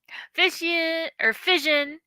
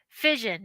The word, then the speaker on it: Fission: Fission. I met him at the Keystone Clash, so it's pronounced fission, not fission.